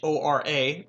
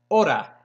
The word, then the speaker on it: hora: remember from last time the way you pronounce that are and hor a for ora or time in Spanish is not hora like this it's Oda and that's all you have to do is say Yoda without the Y order that is how you pronounce the word our and Spanish so what time is